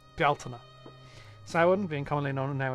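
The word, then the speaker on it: Bealtaine: She rules from sin to beltina because that's how that's pronounced. Beltina.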